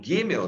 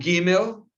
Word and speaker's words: Gimel: E o G, como falei para vocês, que está aparecendo aí para a gente, o Gimel, né? Como aparece, ele vai soar sempre como G, não como G, tá?